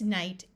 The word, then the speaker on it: knight: tighten sight write night knen has a silent k so this word is also night this night means the opposite of day this Knight is somebody who rode